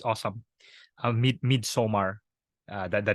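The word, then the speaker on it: Midsommar: so it's it's awesome midsomar uh that the name uh I think it's like mid-summer but instead of Summer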